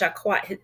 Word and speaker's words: Jacquette: Her name is pronounced Jacquette.